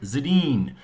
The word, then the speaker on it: Sedin: So Daniel and Henrik Sedin.